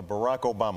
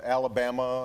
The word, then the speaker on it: Barack Obama: Uh Barack Obama. Although they you know, you had a top 10 list, but you missed a couple. ways to mispronounce Barack Obama. was Alabama and Yo' Mama.